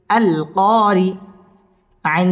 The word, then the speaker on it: القارعة: হামজা লাম জবর আল, কফ আলিফ জবর ক, আল ক, র জের রি, আল কারি, আইন জবর আ, আল কারিআ, তা পেশ তু, আল